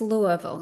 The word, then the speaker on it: Louisville: It's It's Louisville. Yes. If you're Louisville, right? And so the next town over is spelled the same called Lewisville.